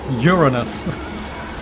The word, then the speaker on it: Uranus: Yes, Uranus. Nate, Uranus. That's how you pronounce it.